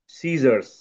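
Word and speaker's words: scissors: silent হয় কখন হয় এস এর পরে যদি সি থাকে তাহলে সি এর সাউন্ডটা হয় না যেমন এখানে দেখো সিজারস এইযে সিজারস সিজারস সিজারস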